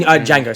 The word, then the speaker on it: Django: The D is silent. Yeah, damn it, I was about to say it. In Django, sorry, beg your pardon.